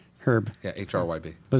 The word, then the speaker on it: Hryb: How did we pronounce that anyway? Herb. Herb.